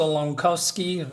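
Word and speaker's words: Langkowski: so in the last issue we see Walter lovsky that's how you say it transformed into the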